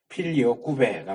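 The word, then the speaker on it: Filioque: 이게 무슨 소린지 몰라 이것도 지금 필리오케 보통 많이 그렇게 발음을 하는데 라틴어이 라틴어 단어고 라틴어 식으로 읽으면 필리오 구배가 맞아요 필리 배이 필리 배는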